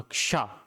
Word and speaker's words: क्ष: जब हम इस शा का उच्चारण करेंगे तो हम कैसे करेंगे, क और शा दोनों का, क्षा, पहले का आएगा, क्षा, जैसे कक्षा या फिर कक्ष, कक्ष, दो बार का बोला हमने क्योंकि एक